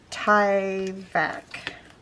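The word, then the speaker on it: Tyvek: spelled t y v e k i think ty vac i'm sure it's supposed to be pronounced differently it's definitely not my strong suit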